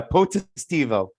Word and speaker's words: Potestivo: It's 4 syllables. Yeah, Potestivo.